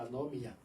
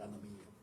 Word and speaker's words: anomía: Hay un concepto que se llama la anomia, o anomía, anomía, con acento en anomía, que es que el